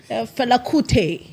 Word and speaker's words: Fela Kuti: Fela Kuti, where I actually like how he pronounces Fela Kuti. How do you say it? Fela Kuti, yeah.